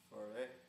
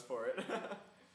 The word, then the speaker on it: Ford: how do you say your last name? Foray. No, it's Ford.